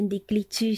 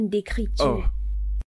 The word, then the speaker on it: écriture: Ce n'est pas main d'écliture, c'est main d'écriture. Oh ok.